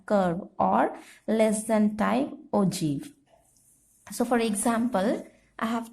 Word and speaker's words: ogive: word is like this ogive, but it is pronounced as ogive.